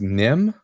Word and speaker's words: Nihm: It's pronounced Nim is the name of the place.